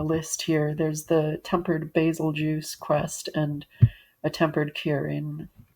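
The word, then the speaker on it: Bazelgeuse: Uh let's see his his fight generally basil juice is which again basil juice is how I say it because or yes basil juice because it's spelled like beetle juice like the star um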